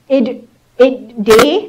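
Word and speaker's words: IrDA: And that created what we call IDDA, that's how it's pronounced.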